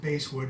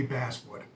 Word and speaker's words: basswood: is made of Basswood I know I've heard some people pronounce it base wood but I think only people that play music pronounce b a s s bass so I'm guessing it's supposed to be Basswood as a Maple neck